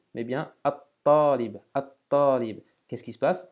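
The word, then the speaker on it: الطالب: el talib, mais bien at-talib, at-talib. Qu'est-ce qui se passe? Le lam de l'article n'est plus prononcé et on accentue, on double la prononciation du ta comme si on avait une shadda dessus.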